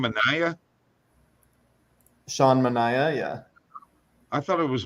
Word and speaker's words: Manaea: Sean Manaea, yeah. I thought it was Manea. I'm sorry. No, it is a confusing name, but yeah, the announcers and everything say Manaea.